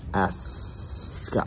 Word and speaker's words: Ascot: You got to say it right. Mm-hmm. It's Ascot. Scott.